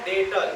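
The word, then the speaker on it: debtor: है इसलिए याद रखना सीधे क्या है डेटर बेचारा साइलेंट हो जाता है ये पति है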